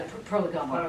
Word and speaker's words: Prolegomena: Yeah, the Prolegomena. Prolegomena. Yeah, the Prolegomena, which I've never pronounced right, and it's always irritated me.